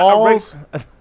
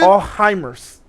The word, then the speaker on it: Alzheimer's: Not Alls. Can we just go with this shit? No, you can learn how to say it right, my nigga. Alzheimer's. Heimers. Alzheimer's. You sound like a German trying to speak English. Alzheimer's. Huh, where'd that T come from? There's no T in Alzheimer's.